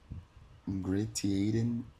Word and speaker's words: ingratiating: All at once there came up a baldheaded elderly man with ingrained ingratiating little eyes wearing a full summer overcoat.